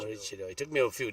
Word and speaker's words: Maroochydore: about Marichido, isn't it? That's how you say it? Maroochydore. Maroochydore.